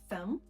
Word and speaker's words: thumb: Depois a gente tem o B mudo, em palavras como thumb e that. O padrão aqui é que normalmente quando a palavra termina com MB, o B vai ser mudo, ou quando esse B está antes de um T.